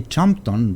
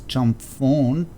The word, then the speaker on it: Chumphon: jump phone airport yesterday i say champton but it's not jumped on its jump phone actually i believe i pronounce